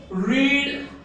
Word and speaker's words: read: वाचणे, वाचण्यासाठी फॉर्म काय आहे, रीड V1 रेड, V2 रेड, V3 V2 आणि V3 आणि V1 तिन्हीचे स्पेलिंग सारखे आहेत, फक्त याचा आणि याचा प्रोनाउन्सिएशन उच्चार वेगवेगळा आहे.